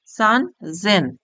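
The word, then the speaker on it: 三千: সান, সেন লেখা আছে সেনের ঘর, কিন্তু আমাদের উচ্চারণ কি হবে? সান জেন।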